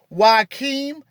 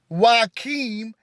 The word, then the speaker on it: Joachim: According to the Apocrypha, the story of Jesus begins with his maternal grandparents, Joachim and Anna. Joachim and Anna. And for those who have a pen, Joachim is spelled Joachim.